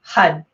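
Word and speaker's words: har: chant along with this hud sound and it's actually h-a-r but i'm gonna type this in it's spelled h-a-r but when you pronounce it you wanna roll the r the best that you can so the r is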